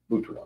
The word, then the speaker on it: Butuan: Butuan.